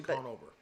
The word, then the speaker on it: Conover: actually um oh yeah yeah Mel uh Adam canover I I haven't seen it so I don't know if canover is how you pronounce his last name Conover Conover Conover uh yeah yeah on uh twitch